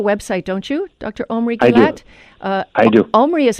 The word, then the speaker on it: Gillath: Omri Gillath? I do. Omri is spelled Omri, and his last name, like the beautiful resort town in Israel, Eilat, it's Gillath, Gillath, at the Department of Psychology, University of Kansas.